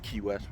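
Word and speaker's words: Quay West: I think it's called Key West but it's pronounced Key West was q-u-a -w-e-s-t so it was about uh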